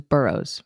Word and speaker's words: Burrowes: listening you can say my last name is burroughs you don't have to pronounce the e so much oh i'm sorry that's